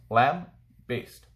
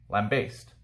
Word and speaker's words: lambaste: powerful lamb based so as it's pronounced lamb based lamb based to criticize someone or